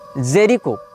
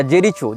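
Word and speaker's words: Jericho: इसने जेरिको या जेरिचो जो भी इसका उच्चारण भाषा में किया जाता हो। जे ई आर आई सी एच ओ जेरिचो या जेरिको जहां तक जेरिको होना चाहिए उच्चारण ये फस्तीन का प्रांत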